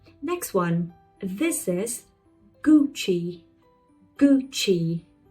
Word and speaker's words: Gucci: Gucci. You see two syllables. The first one like gui. Gucci.